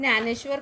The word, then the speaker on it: ज्ञानेश्वर: हम मराठी में ज्ञानेश्वर कहते हैं, लेकिन हिंदी में ज्ञानेश्वर कहना है, ज्ञानेश कहना है। इसलिए ज्ञ का उच्चारण करते समय हमें पहले द्य और बाद में न का उच्चारण होता है।